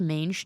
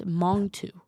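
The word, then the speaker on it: Mangetout: So, you know this song wet leg that appears to be pronounced mange tout. It's it's it's Mongu.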